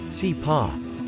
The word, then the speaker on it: CIPA: But the fact that this case deals with classified materials means that the Classified Information Procedures Act, CIPA, pronounced CIPA, get used to it, will be used